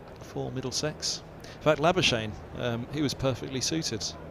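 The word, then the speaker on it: Labuschagne: morgue he said that the welsh are about the only ones who can pronounce my name properly never shane not being the well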